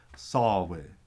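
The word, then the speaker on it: ܨܒܐ: Sawe, he wants. Sawe, he wants. So by syllable it's sa and be, but that beth is softened by the vowel before it, so it becomes sawe, sawe.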